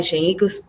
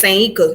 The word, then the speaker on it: Sanyika: So he adopted the name Shanika Shakur, or is it Sanyika? How you say it? It's Sanyika Shakur. Okay, I was right the first time.